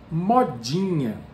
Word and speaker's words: modinha: please today's word is mod genia mod genius this is how we pronounce it in brazil depending on on where